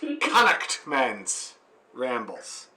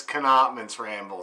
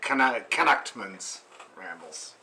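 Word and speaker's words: Connaughtman's Rambles: that i'm not pronouncing it correctly the correct pronunciation as reminded to me by my friend brian every time i say it is connect men's rambles connect men's but when he reminds me of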